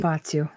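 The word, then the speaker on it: Hoia Baciu: How do you pronounce it? Something- Hoyabatsu.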